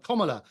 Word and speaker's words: Kamala: And I have to say that your last guest, I find it extraordinary that Kamala, and that's how you pronounce her name, she spent an absolute